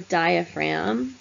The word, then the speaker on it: diaphragm: and lungs called the diaphragm we don't pronounce the G that separates basically what's